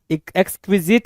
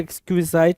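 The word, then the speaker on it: exquisite: एक्सक्विजिट कुछ लोग पढ़ेंगे, कुछ लोग एक्सक्विजाइट पढ़ेंगे, कोई इशू नहीं होगा जी, दोनों में कोई जो भी प्रोनाउंसिएशन है ठीक है।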